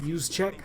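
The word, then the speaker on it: Juszczyk: represent them use check I know you can't pronounce that that is pronounced use check one of the best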